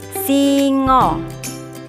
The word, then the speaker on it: singa: Jawa hewan ini disebut Singo tulisannya singa hanya dibaca Oh masih belajar tentang